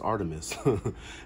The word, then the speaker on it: Artemis: your own path the Wilderness is calling Artemis pronounced Artemis Diana to the Romans is the Greek goddess